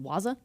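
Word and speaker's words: Wazuh: And this example is, you said that's pronounced Waza? Waza, yeah. Waza.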